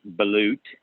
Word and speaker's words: balut: So Wikipedia says it's pronounced balut.